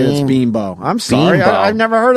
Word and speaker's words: Bimbo: oh yeah bean Boheme ball but it's no bin Bo but but they say it like hey Abby sees a bean ball everyone say this bean Bo I'm sorry I've never heard of this company